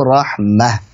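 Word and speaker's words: رحمة: Ketika wakaf selalu dibaca dengan huruf ha sukun. Rahmatan, rahmatin, rahmatun bacanya selalu rahmah.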